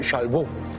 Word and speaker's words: Chalbaud: Se trata de Antón Chalbou. ¿Está bien? Está bien, está muy bien.